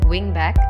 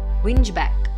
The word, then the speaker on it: wingback: incorrectly pronouncing it as whinge back please remember W ing will be pronounced as wing and BAC K will be pronounced as back so the correct pronunciation